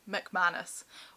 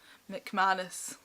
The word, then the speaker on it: McManus: McManus, which is actually how you say her name. McManus is the Scottish way of saying her name.